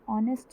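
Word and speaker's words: honest: किसकी आ रही है, ऑनेस्ट बोलेंगे अगर, तो एच जो होता है वो साइलेंट हो जाता है और हम ओ की साउंड से स्टार्ट करते हैं, और ओ क्या है, वॉवल।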